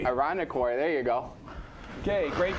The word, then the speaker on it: Irondequoit: Lady Rebels go to sectionals in someplace in New York that I don't know how to pronounce. How about Irondequoit? Irondequoit.